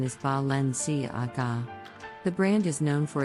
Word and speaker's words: Balenciaga: brand based in Spain this name is often mispronounced as valenciaga but the correct pronunciation is Valencia AGA the brand is known for its avant-garde designs